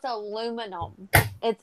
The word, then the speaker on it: aluminum: How they pronounce aluminum. They pronounce it aluminium.